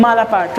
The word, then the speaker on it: malapert: यस, बेशरम के लिए हम लोग इस्तेमाल करते हैं माला पार्ट, राइट।